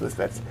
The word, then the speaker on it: MSFTS: MSFTS. Pronounced Misfits.